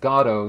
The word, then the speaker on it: Godot: But it's funny, as I said in my introduction, over here we would say Godot, but That's right. originally it's pronounced Godot, so it's kind of like we should call this one Waiting for Billy's Camera.